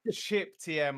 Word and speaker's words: CipTM: siptm it says um it's pronounced chip but he has a spell sip right chip tm i beg your pardon